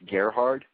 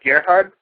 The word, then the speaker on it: Gerhard: bunch of different ways how how do you pronounce your last name sorry about that no problem it's Gerhard that's Gerhard yes sir and also speaking of the rope